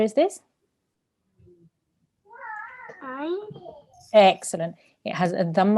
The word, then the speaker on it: ع: And remember, ayn comes from the throat.